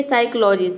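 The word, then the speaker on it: psychology: क्या रहेगा साइलेंट रहेगा जैसे कि देखिए साइकोलॉजी पी का प्रोनंसिएशन होता है प लेकिन साइकोलॉजी में देखिए प कहीं पे भी नहीं आ रहा है यानी कि हम प प्रोनाउंस नहीं कर रहे हैं इसका मतलब होता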